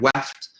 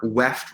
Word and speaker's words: weft: As a quick nomenclature, weft rhymes with left.